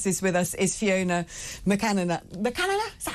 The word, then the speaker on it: McAnena: It's McAnena, but that's fine. McAnena. A bit like Macarena.